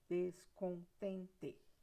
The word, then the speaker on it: descontente: Qual que é a sílaba mais forte?